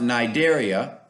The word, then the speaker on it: cnidaria: sponges the nigeria cnidaria it has a c but it's pronounced nidaria kind of reminds me